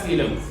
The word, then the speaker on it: coelom: Now we go to the next category, that is called as coelom. Can we pronounce this?